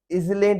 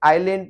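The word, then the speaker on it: island: एक आइसलैंड होता है, वो होता है कंट्री है आइसलैंड, आई सी ई है, इसमें आई एस है, तो इसमें इजलैंड नहीं पढ़ेंगे, आइलैंड पढ़ेंगे।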